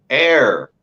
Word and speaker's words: heir: So I think it's HEIR. Is that it? HEI. Oh, air. Air, yes.